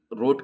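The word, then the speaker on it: wrote: डब्ल्यू जब भी आर के साथ आएगा ना तो डब्ल्यू की आवाज नहीं आएगी। डब्ल्यू साइलेंट हो जाएगा। जैसे राइट की स्पेलिंग है डब्ल्यू आर आई टी ई है ना तो जो भी रोट की स्पेलिंग है तो डब्ल्यू आर ओ टी ई तो देख रहे हो कि डब्ल्यू के साथ आर डब्ल्यू और आर अगर साथ में आएंगे तो डब्ल्यू साइलेंट वर्ड हो जाएगा इसकी आवाज नहीं आती प्रोनाउंसिएशन में तो देयर फॉर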